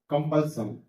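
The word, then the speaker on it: compulsion: और यहाँ पर देखिए कॉन्सोनेंट प्लस SION सन, तो कंपल्सन, रिपल्सन, डिप्रेशन, रिसेशन।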